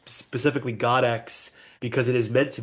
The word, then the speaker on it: Goddexx: And I I originally said goddess because I didn't know how to pronounce Godex with two X's at the end.